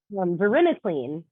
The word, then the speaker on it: varenicline: Verinus, how do you pronounce that, Caravella? Varenicline.